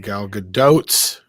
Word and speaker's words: Gal Gadot: You guys are mispronouncing Gal Gadot's name.